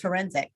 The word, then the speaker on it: Ferencik: Lee, Erica Ferencik, I believe is how you pronounce it. You know me, I'm having pronunciation. I just met her. It's forensic. Isn't that correct?